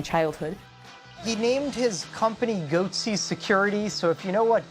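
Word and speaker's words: Goatse Security: They're called Goatsy Security. Is that my pronouncing that correctly? Yeah, that's right.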